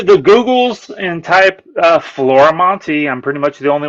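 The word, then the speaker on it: Florimonte: go on to the Googles and type uh Flora Monty I'm pretty much the only one doing comics and you spell it as you can see on there f-l-o-r-i-m-o-n-t-e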